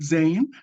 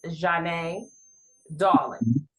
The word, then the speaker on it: Zhane Dawlingz: pronounce your name right Zan so the so the correct pronunciation is Jan darling okay wonderful I'll try